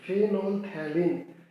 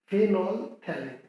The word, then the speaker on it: Phenolphthalein: Phenolphthalein, mind the pronunciation. Phenolphthalein, not phenolphthalein.